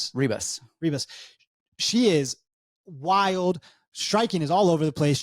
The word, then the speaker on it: Ribas: he like I guess do we say heos because that's how they say it in Portuguese but we would say Reeb Rebus Reeb she is wild